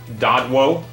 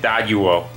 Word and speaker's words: Doduo: There's the next thing we need, Dodwo. I'm pretty sure that's how you say it. That's how I've been saying it, and I'm the owner of this place. I guess that's not how you say it. The Dodwo fled. Doduo? That's how you say it, Doduo.